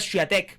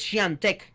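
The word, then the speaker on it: Świątek: Yo dije, no, yo quiero decir esto bien al aire, porque yo podría leerlo literal y es Iga Swiatek, pero no, es Swiatek, es la pronunciación correcta.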